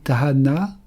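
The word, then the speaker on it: תאנה: Le filier c'est ta na un taf alf noun et he. Prononcer tahana, cela signifie l'ardeur, la passion.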